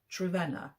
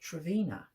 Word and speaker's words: Trevena: name properly by Shirley trena now in my book review I've pronounced it travina but it's not it's trena so I'm told by